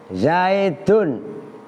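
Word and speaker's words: زيدٌ: Tapi begitu diucapkan keluar nun sukun, seolah-olah tulisannya begini.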